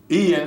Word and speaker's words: Ian: say Ian why is why they call it Ian it's spelled iron i-a-n like Brian iron it's not you know spell you know you don't pronounce iron I mean i-a-n and Brian like Brian but anyway but anyway